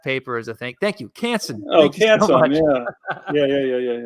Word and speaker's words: Canson: way that yeah canson bought oh Strathmore owns canson now okay that's the correct way to say